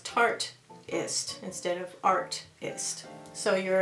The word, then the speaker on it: Tartist: was the Tartist, and I was told that I pronounced it wrong when I was calling it the Tartiest. I like the Tartiest. I thought that was neat. But if you think about it, Tartist is like artist, only it's Tartist instead of artist.